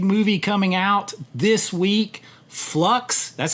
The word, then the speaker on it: Fluxx: Uh he has a big movie coming out this week, Flux. That's how you say it, right? That's right, Flux.